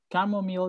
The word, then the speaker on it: camomile: Camomile, yes. La CH recuerden que suena como K.